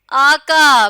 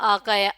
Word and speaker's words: آقا: اور قاف سے لفظ لکھا ہوا ہے، پڑھیے آقا، بالکل صحیح، اور آقا کے انہوں نے تلفظ پہلے بتایا ہوا ہے الف مدہ کاف